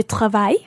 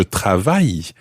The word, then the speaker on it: travaille: Très bien, je travaille. Okay, again, ending in E. Okay, it's quite difficult sometimes to guess exactly how French words are spelled because obviously so many of the letters are silent.